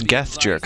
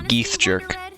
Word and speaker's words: Geth Jerk: That's Oh, it's Geth Jerk. I was always pronouncing it Geeth Jerk.